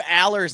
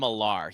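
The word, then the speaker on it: Allar: Dude, James Franklin said Drew Aller's name wrong for a year. He called him Alar. He called his own quarterback the wrong name.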